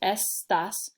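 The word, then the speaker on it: estás: e gets the punch because there's two syllables estas estas down here it's tu estas so now my as gets my punch because that accent helps me to know i gotta say that last syllable a little stronger du estas in la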